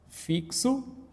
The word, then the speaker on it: fixo: Nós temos aqui, a fonética seria, ó, seria fixo e aqui seria táxi. Então, nós temos o quê? Uma letra com dois sons.